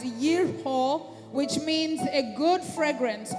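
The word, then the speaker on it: יריחו: In Hebrew, Jericho is pronounced or called out as yerho, which means a good fragrance or fragrant.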